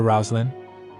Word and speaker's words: Rosaline: said rouslin he said let's call her rosin that's how you pronounce the name Rosaline in the East melor said in any